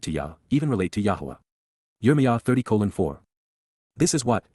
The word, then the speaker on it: Yahowah: led and guided by, Yahowah, Yahowah, God's proper designation pronounced as instructed by his Torah, guidance on.